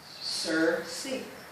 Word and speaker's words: Circe: how it's spelled and this is how you pronounce it sir see i tole a lot of people it's like